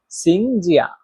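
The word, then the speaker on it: 请假: অবশ্যই কমেন্ট করে জানাবেন কিভাবে এর চার নাম্বার টুন উচ্চারণ করতে হয়। তাহলে পুরো বাক্যটা হচ্ছে সিংজিয়া।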